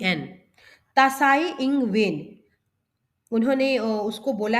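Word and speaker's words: Tsai Ing-wen: आई तसा आई एन जी डब्लू ई एन तसा इंग वेन उन्होंने उसको बोला है अपना एक शोक प्रकट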